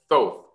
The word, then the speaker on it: Thoth: The Emerald Tablets are these amazing tablets that were left behind by an ancient Egyptian god known as Thoth or Thoth, depending on how you want to pronounce it.